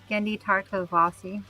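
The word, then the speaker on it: Genndy Tartakovsky: How do you pronounce that? Kayla Gendi Tarttoi.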